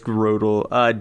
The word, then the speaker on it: Grotle: Did I There's say the at least name wrong? Was it 1,000 of them. Grottle? Yeah, it's Grotle.